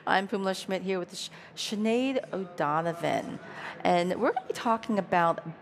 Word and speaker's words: Sinead: so my name is Sinead O'Donovan it's not Sinead O'Connor but I'm grateful for her because makes my name pronounceable and I run our